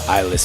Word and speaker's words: Eyelezz: that's why I say my name is eyeless and the end it double Z so that's just you